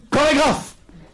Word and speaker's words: chorégraphe: prononce pas tous Je exemple chorégraphe la lettre C H o se prononce co par contre on ne